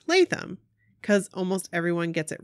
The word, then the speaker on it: Latham: block-party story hey Nikki abrooke its Laurie Latham pronounced Latham because almost everyone gets it wrong the first